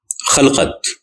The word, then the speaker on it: خَلقَت: پھر دو الفاظ ہیں خلقت اور خلقت۔ یہ دونوں الفاظ درست ہیں اور دونوں عربی کے لفظ ہیں، لیکن دونوں کا مفہوم الگ ہے۔ خلقت یعنی خے پر زبر کے ساتھ کے معنی ہیں مخلوق،